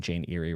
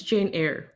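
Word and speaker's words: Jane Eyre: I think it's Jane Air, but it is spelled Eerie, so I don't blame you.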